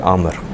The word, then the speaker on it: عامر: عمر کے آگے اگر واو لگا دیں تو اس کو پڑھا جاتا ہے عامر. عمر جیسے آپ لکھتے ہیں، اگر اسی کلمے کے آگے واو لگا دیا جائے تو یہ پڑھنے میں آتا ہے عامر.